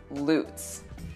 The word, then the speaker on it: Lutz: We will start with one that just about everybody mispronounces, the city of Lutz. It's spelled just like the ice skating jump, Lutz. But here it's pronounced Lutz.